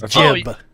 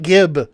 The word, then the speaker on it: gib: It is jib. You mean like in Unreal Tournament when we used to play Insta-Jib? Insta-Jib is the actual. Actually, Insta-Jib is the actual pronunciation. We were naive to call it gib.